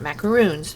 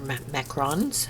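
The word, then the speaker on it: macarons: use for my macrons they're not macaroons they're macrons i'm not sure i'm saying it correctly they have the little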